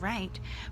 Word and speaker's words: write: and not of course right has a homophone as in left and right but this right would be to write your name so this is a